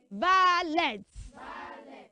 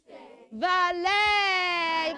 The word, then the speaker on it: valet: Never say, valet. You should say, valet. Put your hands together for yourself. That was amazing. Oh, thank you so much. So, children, we have learned the right pronunciation of those ET words having French origin and pronounced as A.